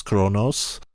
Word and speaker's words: Qo'noS: A few shows later it will be called Kronos, Q-O'-N-O'-S, pronounced of course Kronos, and we see some